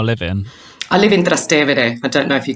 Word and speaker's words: Trastevere: And Trastevere, because that's the way you pronounce it, because it's a bit of a tongue, tie for so many people. But it's... it means in Latin across the river, Trastevere, across the Tiber.